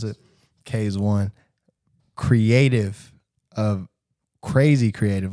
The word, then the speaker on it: Kaze.one: we'll tell this story but when my guy K's one right that's how you pronounce it K is one creative of crazy creative like love the artwork